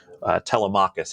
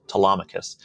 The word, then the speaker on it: Telemachus: pretty popular on Twitter named Telemachus, as some people like to call it, but I actually asked him; it's pronounced Telemachus, and he's been finding little edges in places and exploiting them very well.